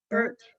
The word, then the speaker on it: Burt: And we know that you've done extensive PI work for Jeramy Burt or Bart. How do you say it? It's a Burt.